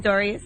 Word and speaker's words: Pistorius: And uh Oscar, how do you pronounce his last name? Pistorius.